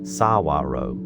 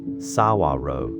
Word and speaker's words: saguaro: A tall cactus called the saguaro. You say it like saguaro. You say it like saguaro.